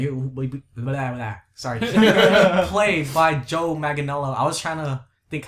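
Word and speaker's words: Manganiello: last name all right how do you pronounce it magelo mag magel Magano yeah there you go Joe Magano might be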